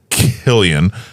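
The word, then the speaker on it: Cillian: to it I know but no it' be Killian Killian and and that's how my brain would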